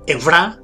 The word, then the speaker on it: Evra: Sería Evra, con acento en la A, Evra Kadabra.